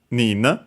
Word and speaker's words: 人: To count then from 3 onwards for persons, we use the Chinese reading nin. And yeah, as you can see here, it says technically on its own pronounced accent on the ni.